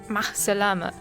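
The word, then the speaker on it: مع السلامة: Ma, do you remember the a sound that we've talked about in previous episodes? So it's ma. Ma. Ma. Ma. As-salama. As-salama. So ma-salama. Ma-salama.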